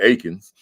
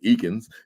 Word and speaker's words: Eakins: pronouncing it wrong because you said Akens and we've been saying eans right so like eens it looks like eens but yeah it's Akens it's Akens so Ain PhD